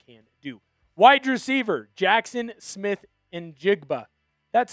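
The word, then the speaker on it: Smith-Njigba: Wide receiver Jackson Smith and Jigba.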